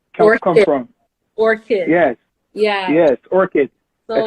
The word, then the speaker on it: Orchid: I'm gonna ask you where the name Black, or let me say it properly, Orchid or Orchard come from? Orchid.